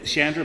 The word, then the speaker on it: Chandra: sorry Chandra Chandra I Chandra am I saying it right yeah okay thank you just want